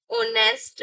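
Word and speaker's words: honest: एन ऑनेस्ट मैन। यहां पर H silent होता है। और यहां पर आप एच साइलेंट होकर वोवेल की जो साउंड है उसको फोर्स मिलता है। वोवेल की साउंड निकलती है।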